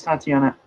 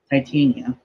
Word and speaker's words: Titania: She knocks Tatiana, not Tatiana, Titania, I think. Yeah. Yeah, Titania. It technically the way it's spelled it should be Titania, but it the joke of her name is supposed to be that she's a Titan, so it in this character in this universe.